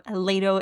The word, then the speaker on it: Lato: one in mind so this is L in Polish or lato if you're pronouncing this in English and if you see